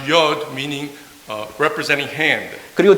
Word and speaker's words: Yod: And first letter is pronounced Yod, meaning representing hand.